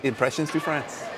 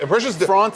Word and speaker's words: Impressions de France: My number 5 is Impressions du France. Impressions du France. How do you say it? Impressions de France.